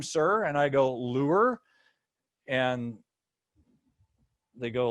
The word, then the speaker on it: Luehr: Most people get that wrong. It's Luehr. It's not EU, but UE, right? And they go, well, oh, I'm sorry, Mr. Lear.